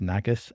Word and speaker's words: Nagus: N with a Y cuz phonetically it's nagas and a g us yeah I'll be intrigued